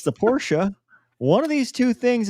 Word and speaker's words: Porsche: It's Porsche. hilarious. It's hilarious to me. Like the phonetic. It's hilarious. Anyway. Porsche. It's pronounced BMW.